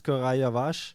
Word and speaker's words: Koray Yavaş: He told us how to pronounce his name. It's Koray Yavaş.